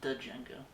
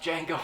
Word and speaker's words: Django: um today we watched the film django unchained i thought it was da jenga um the d is silent oh so today we watch django unchained um this was